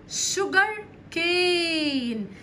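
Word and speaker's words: sugar cane: نبات قصب السكر اسمه شوجر كين خلي بالك السي هنا دي بنطقها كانها حرف الكاف والاس يو دي اهي كانها ش شجر شوجر شوجر كين قصب السكر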